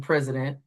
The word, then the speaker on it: president: For the h sound you're hearing in president, it's spelled with an i. This is a swah. So use this the i spelling for that. Go ahead and write president. What word did you write? President spell P R E S I D E N C. All right, check your work. Make sure you caught that schwah spelling and the spelling for for the Z sound in president.